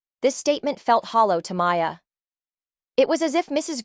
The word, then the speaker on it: Maya: Green began roll call, she stumbled over Maya's name. "Ya Inson?" she asked slowly, mispronouncing it.